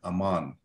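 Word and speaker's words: Ammon: instances where it does, because their name was A-M-M-O-N, Amon, okay? And that's the second, that's the last two syllables of Sal Amon, okay? Amon, Omen, Amon, okay?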